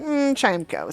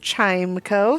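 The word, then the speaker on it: Chimecho: people have decided that the word they should have focused on in this Pokemon's name is the second part of this I don't know compound word uh spelled e c ho o and pronounced Echo but even so I am paying homage to the word echo in pronouncing the word chimco so I was like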